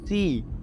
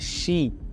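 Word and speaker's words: 四: বা জাপানিজে উচ্চারণ করবেন চাইনিজে এটার উচ্চারণ হবে সি এবং জাপানিজে এটার উচ্চারণ হবে সি যেটার অর্থ হচ্ছে মৃত্যু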